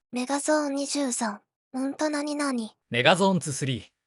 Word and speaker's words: メガゾーン23: ゾーン 23 本当何々 megazone 2 3 と読むメガ Zone 2 3